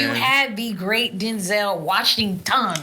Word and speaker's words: Denzel: Because that's how you really say his name, Denzel.